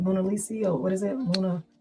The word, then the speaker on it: Mussolini: Mona Lisi or what is it? Muna. How you say it? Mussolini. Mussolini.